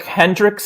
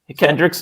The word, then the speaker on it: Kendricks: you take a look at their defense Eric Hendrick is that how you say his name he's having a hell of a SE Kendricks okay he's got 84 tackles at the linebacker